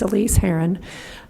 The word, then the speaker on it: Elise Haron: of your last name you did good it's Elise Haron 2128 white tail Lane